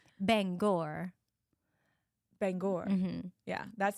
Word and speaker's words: Bangor: Bangor. But it's a prestigious university. I know. That's why we I feel like I want to say it correctly. Not like Banger University.